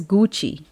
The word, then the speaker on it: Gucci: with our English Phim for example guci guci is a brand which is pronounced as Gucci there is no CH there is no Chi but we call it Gucci so my child with